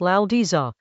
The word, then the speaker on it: Laozi: The original text, in pinyin — Laozi (pronounced "Lao-dzuh"): Tiānxià yǒu shǐ, yǐwéi tiānxià mǔ.